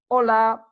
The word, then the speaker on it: hola: Ola Ola is hello notice that we don't really pronounce the H in Spanish it's me so anytime